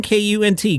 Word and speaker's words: Kunt: Controversial music group, I think it's pronounced Kunt and the Gang, K-U-N-T, Kunt, right? Yes.